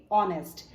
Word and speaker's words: honest: मतलब होता है ईमानदार एच ओ एन ई ए यहां पर एच साइलेंट है इसीलिए इसे प्रोनाउंस करेंगे ऑनेस्ट अब आइए इसे सेंटेंस